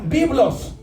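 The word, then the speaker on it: βίβλος: Por eso le pusieron Biblia, porque Biblia significa en griego se pronuncia biblos y significa colección de libros.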